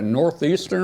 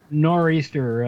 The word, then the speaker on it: nor'easter: said you're going to be getting, what, a northeasterner or whatever up there in the next day or two? Yeah, nor'easter.